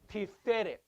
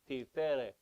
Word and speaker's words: Tiferet: The Sephirah Tiferet. It's not Tiferet, it's Tiferet, because you have a double segol. You have a double E. T-I-F-E-R-E-T. T-I-F-E. T-F-E-R-E-T. Re. Tiferet. Not Tiferet.